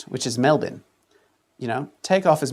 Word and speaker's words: Melbourne: Melbourne but it is pronounced with as many as six letters at most which is Melbourne.